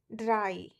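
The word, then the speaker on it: drei: Whenever E and I comes together, then I comes after E. It becomes I.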